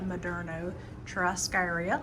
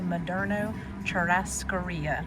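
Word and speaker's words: Moderno Churrascaria: I have gotten the rundown on how to pronounce that. And I do not say it as pretty as our waitress did, but it is apparently Madno Cherasaria and it means grill.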